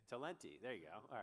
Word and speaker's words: Talenti: Talente. Talenti.